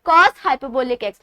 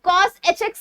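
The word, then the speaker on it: cosh: cos हाइपरबोलिक x। हम cos hx नहीं कहते, cos हाइपरबोलिक x, sin हाइपरबोलिक x, tan हाइपरबोलिक x।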